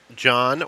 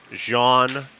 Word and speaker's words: Jean: With the whole Perez situation here, I know many people call him Gene Perez. I've talked to him multiple times about this. John or Gene is acceptable.